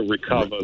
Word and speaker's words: Recuva: So, but there's no other software comparable to like a Recover.